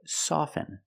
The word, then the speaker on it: soften: With both words, I don't pronounce the T. I say soften, and I say often. But sometimes you'll hear people say often, and it's not wrong.